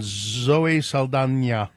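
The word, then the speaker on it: Zoe Saldaña: Isabel rosolini conclave and Zoe Sala which is the way you're supposed to pronounce it now oh is it s s she didn't she never used to put the will squiggle over the N but now she but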